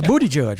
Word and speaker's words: Buttigieg: And Ben, how do you pronounce that guy's last name? Buttigieg. There you go. No. Shake your Buttigieg. It's Booty Judge, right?